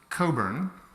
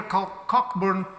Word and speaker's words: Cockburn: flat Vienna thank you my name is actually pronounced Coburn and one of the great pleasures for me to be here in Portugal is the fact that is a portal which people here Cockburn port but it's properly pronounced Coburn so if there's only